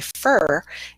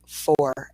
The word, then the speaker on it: for: So we say for instead of for.